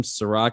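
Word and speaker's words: Serak: easier to type in my name siroc it's s-e-r-a-k i know unfortunately it's not spelled like the liquor but i promise you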